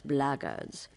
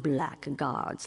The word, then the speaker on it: blackguards: If you're another one of those blackguards, and that's the way to pronounce it, not blackguards like that thug insisted it was, then my answer is the same.